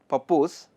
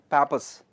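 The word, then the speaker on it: Pappus: theorem theorem of papers don't call it don't pronounce it as papus okay it is supposed to be Pro pronounced as Papas theorem of pap okay in fact it is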